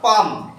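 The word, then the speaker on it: palm: তাহলে এখানে কি বলবো আমরা পাম, তাহলে এম এর উচ্চারণ হচ্ছে, এল এর উচ্চারণ হচ্ছে না।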